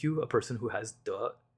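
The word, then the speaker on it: 德: And that would make you a person who has duh, right? A person who has virtue. Um, which is pronounced with the second tone, which is an upward inflection.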